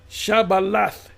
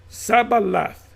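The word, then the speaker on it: שיבולת: So there's certain words that uh certain tribes say different pronounce differently. So the word here is shaba. Shabalath. Shabalath. Shabalath. Let's come on back. Shabalath. I'm not going to get. And they said Sabalath. So they pronounced it differently, right?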